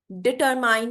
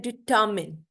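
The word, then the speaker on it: determine: इसके बाद ये डिटरमाइन नहीं होता, ये होता है डिटर्मिन। इसकी भी प्रोनाउंसिएशन नीचे लिख देती हूँ, डी टर्मिन। ठीक है। एच के साथ आप कहीं कंफ्यूज ना हो जाए। डिटर्मिन, डिटर्मिन। ठीक है। R साइलेंट होगा, डिटर्मिन।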